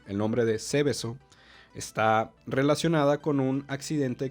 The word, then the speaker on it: Seveso: Este segundo caso se trata, o más bien es llamado Seveso, con S. Ceveso, Seveso. Y es que Seveso, perdón, con acento en la E, primera E, Seveso es un pequeño pueblo italiano, un municipio.